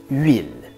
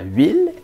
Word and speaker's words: huile: Le mot huile, par exemple. Pourquoi est-ce qu'on met un H muet au début de huile? Parce qu'avant, ça s'écrivait huile. Par contre, à cette époque, la lettre V n'existait pas.